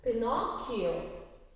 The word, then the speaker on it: Pinocchio: Today we are doing a new chapter of English 2, Pinocchio. P-I-N-O-C-C-H-I-O is pronounced as Pinocchio.